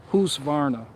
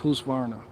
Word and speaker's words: Husqvarna: how to pronounce it he said who's varna he said it's pronounced housevarna husqvarna who's varna because it's like swedish it's like greta two